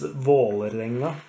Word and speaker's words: Vålerenga: It's Vålerenga, which is in a clean Norwegian way of pronouncing it. It's Vålerenga.